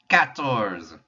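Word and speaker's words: quatorze: look familiar it should cat tours q u makes an a sound cat and then we just add in that o-r-z-e which are easy to pronounce cat tours because what does a cat use when it goes boating cat cat doors cans like you're trying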